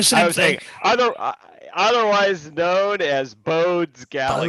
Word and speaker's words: Bode: Bode's Galaxy. Yeah. Yes, everybody wants to call it Bode's, but his name is actually Bode. He's a German, and they pronounce that E on the end, so it's Bode.